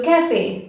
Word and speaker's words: café: A as in day in English. So the sound changes drastically from U to A. For example, le café, which means the coffee.